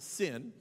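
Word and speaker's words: Zin: the wilderness of sin it's spelled z-i-n but it's pronounced sin and they're out there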